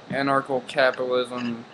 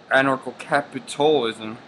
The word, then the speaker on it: anarcho-capitalism: times people say that anarcho capitalism anarch capitalism why do I keep pronouncing it like there's no T capital capital it's kind of stupid um